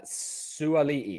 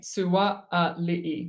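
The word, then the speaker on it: Suaalii: Suali'i. Am I pronouncing that right? Extra A. Suali'i. Suali'i. Okay.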